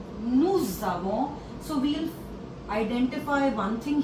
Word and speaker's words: nous avons: il a, elle a, nous avons. So we'll identify one thing here. Whenever there is a consonant and a vowel, so the sound merges. So here the pronunciation will be nous avons.